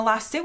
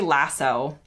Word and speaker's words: lasso: Americans say lasso. British people, I guess, say lassu or lassie. I don't exactly know the inflection, but it ends in an Oo as opposed to a less.